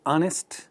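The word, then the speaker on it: honest: ये वर्ड देखिए, ऑनेस्ट, ही इज एन ऑनेस्ट मैन। ये राइटिंग इंपॉर्टेंट नहीं है और ये साइलेंट वाली भी बात नहीं होती है। आप सिर्फ इस बात पर ध्यान दीजिए कि पहला साउंड क्या है, ऑनेस्ट, ऑ, वो एक वॉवल साउंड है, इसीलिए एन आएगा।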